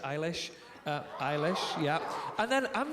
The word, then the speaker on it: Eilish: who I love I don't know if I'm pronouncing her surname right but Billy aylesh Eilish Eilish yeah I'm not gonna lie I've been